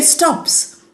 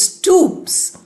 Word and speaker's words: stoops: If you read in a hurry you will say stops. But this word is not stops. It is stoops. Ooh sound is there.